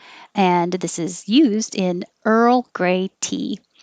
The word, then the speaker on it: Earl: So your tongue goes to the R position and then you move it to the L position. And while you make that movement, you keep making voicing. And that's what makes the roll noise.